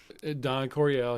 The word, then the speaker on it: Don Coryell: Was it Don Corell? Is that how you say his name? Don Coryell.